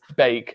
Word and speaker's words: Beek: I had a message from a guy on Twitter who's Dutch today saying that it's bake, as in like you're baking a cake.